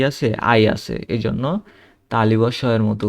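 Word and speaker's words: sehen: তারপরে রেন, তারপরে এটা জেহেন হওয়ার কথা, কিন্তু এটা হবে জেন, কারণ এই যে এইচ, এইচের আগে কি আছে, ভাওয়েল আছে, এই জন্য এইচটা উচ্চারণ হবে না, জেন, ঠিক আছে, জেহেন হবে না, হবে জেন।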